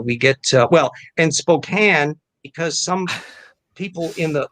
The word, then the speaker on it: Spokane: the vowel long so if people would say spokane like rhymes with citizen kane and uh that was an understandable mistake the great's on our ears no it's spokane well why the hell